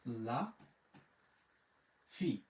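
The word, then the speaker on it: la fille: এই যে দেখেন ই দোজেল ও থাকলে উচ্চারণটা হয় কিন্তু রস্যিকার, তো যার কারণে আমাদের এখানে হয়ে যাবে লা ফি, লা ফি, বলা।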